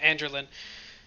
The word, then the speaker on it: Androlynne: it spoken so prince is familiar with the pronunciation um but yeah andrew lynn and uh when you ask about that she